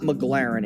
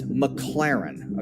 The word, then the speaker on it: McLaren: It's not McLaren, it's McLaren. Okay, so that's how we know this guy doesn't really have a lot of status.